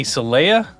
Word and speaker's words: Celaya: We're here with Collin, Brice, and Trey, Celaya.